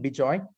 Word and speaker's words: Bejoy: me personally it's bijoyed.ai so it's my first name bijoy spelled as it is pronounced and at bubble.ai and